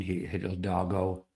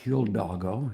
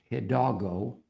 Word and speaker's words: Hidalgo: And I went through the list and I realized that Hidalgo is not Hildago, it's Hidalgo.